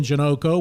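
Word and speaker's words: Janocko: had as you said tim janoko which rhymes with sunoco so you can't mess the name up unbelievable sports history in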